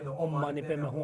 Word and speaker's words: Om Mani Padme Hum: We have a tendency of escaping this first syllable and last syllable.